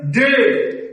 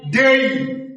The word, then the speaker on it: day: যেমন ধরেন ডে, আমরা বলি ডে, ডে তো ভুল উচ্চারণ, DAY, ডেই, ডেই, ডেই। তাহলে DAY আমরা আর ডে বলবো না, ডেই।